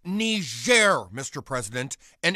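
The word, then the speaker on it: Niger: power all right take the shot it's pronounced ner Mr President and it's a country in Africa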